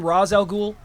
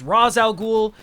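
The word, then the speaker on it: Ra's al Ghul: one who calls him rozal ghoul Ro R Ras they're pronounced both ways like even in the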